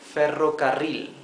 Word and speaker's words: ferrocarril: The word for railway is ferrocarril, right? Ferrocarril. Ferrocarril, if we separate it in 4 syllables like here can be a bit easier to pronounce perhaps. Fe, ro, ca, ril.